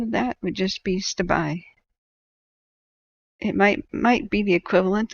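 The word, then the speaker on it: Stabiae: Now, Stabai, at the end of the word, has an AE, which is a hard E sound in Greek. And the Greeks colonized southern Italy first, and so it would have had a very Greek-leaning pronunciation, at least in the early years of its existence.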